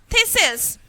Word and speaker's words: thistles: Because here the T should be silent.